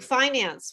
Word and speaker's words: finance: Okay, but so we have silent E's and you don't pronounce them. Okay, so can you think of other words that you like? Finance was another one that because it's not a familiar word, financing.